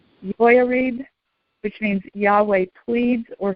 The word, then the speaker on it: Jehoiarib: And in Hebrew, it is pronounced Jehoiarib, which means Yahweh pleads or contends.